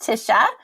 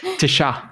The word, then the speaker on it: Tisha: it was all great my name is pronounced tisha uh but i you know you can call me just about anything and i'll answer to it tisha is that better yeah